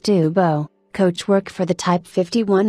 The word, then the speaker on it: Dubos: race cars the breathtaking Lou daos pronounced Duo coachwork for the type